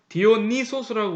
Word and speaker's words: 디오니소스: 그리고 옛날에는 이 또 디오니소스뿐만 아니라 이게 이 입실론이 유 발음이 나요. 우 발음이.